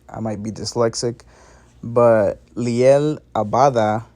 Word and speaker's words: Liel Abada: might be dyslexic but liel abada not adaba liel abada he's all confirmed to